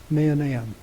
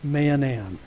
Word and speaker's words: Mahanaim: going to talk about is the principle of manam now that's the proper name of a place that's spelled ma a h a n a i m Manan and that means two camps or more literally